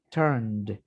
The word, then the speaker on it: turned: Haz como si la e no existiera y solamente me vas a pronunciar turned, como si fuera la d. Turned. Turned. Ok, Turned.